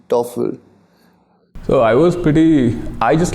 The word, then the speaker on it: Toffle: So I said T-O-F-F-L-E is way better. So it just started, and it clicked because it also rhymes with Google, Oracle, Apple.